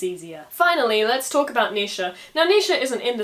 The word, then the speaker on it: Naoise: You see, the modern spelling is N-A-O-I-S-E, which I would pronounce Naoise because whenever you get a vowel party like that, it usually just becomes an E sound.